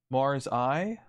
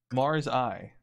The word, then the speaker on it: Marseille: how to pronounce it Marseille that's Marseille it has L's why why would I call it Marseille oh because it's French Mars I Mars I that's how that's how you'd say it more say more zai